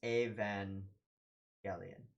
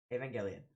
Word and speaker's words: Evangelion: I'm assuming that's correct it's a hard G and it's a van Elian that makes sense it would be the Greek pronunciation of the source words yeah so okay Haven Gillian what am I expecting